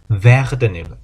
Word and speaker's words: werden: 이 동사를 정확하게 어떻게 발음해야 될지 잘 모르겠습니다 라고 하셔가지고 이제 말씀드리는 건데, 일단 발음은 V-R-E-D-E-N 순서대로니까 werden, werden, werden.